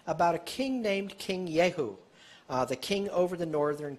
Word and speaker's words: Jehu: a king named king yehu the king over the northern kingdom second kings 10 31 but jehu some people pronounce it yehu took no heed to